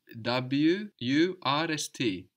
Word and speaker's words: Wurst: Yes, if you think of how it's spelled, you have a W. W-U-R-S-T. No, die Wurst.